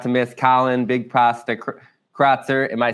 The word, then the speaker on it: Crotser: Be sure not to miss Collin BigPasta Crotser. Am I saying your last name right? You are. Sure. It's Crotser. Yep, it's German.